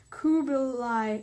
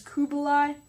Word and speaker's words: Kublai: forces were directed by Kublai Khan who oh sorry I've been saying it as Bulai it's actually Kubla so yeah as the